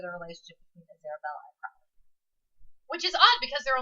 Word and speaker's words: Crowley: She calls him Crawley. I call him Crowley. It's the difference between... He becomes Crowley later after he's like, I'm changing my name, and Helen was like, cool. The pronunciation kind of comes for me from Aleister Crowley, yeah, who was an actual... And I say Crowley based witch. off the Supernatural TV show.